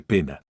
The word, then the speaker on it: poena: Si las vocales a Ee y OE forman diptongo, se pronuncia como e sola. Ejemplo, coelum suena selum. Poena se lee pena.